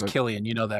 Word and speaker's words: Killian: What me up is that Killian Hayes is a K.